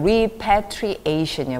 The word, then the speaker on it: repatriation: repatriation이요. repatriation. 이렇게 단어가 길면 강세에 따라서 자, 여기 강세가 두 번 있죠. repatriation. 이렇게 강세를 중심으로 repatriation. 두 박자로 읽어주세요.